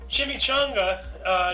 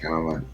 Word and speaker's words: Chimamanda: We have Chimamanda. Okay, not Chimichanga. I'm sorry. Chimamanda.